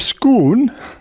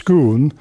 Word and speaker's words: Scone: called the Stone of Scone they've got the pronunciation right because it was nabbed from Stoops Kuhn in Scotland it was used as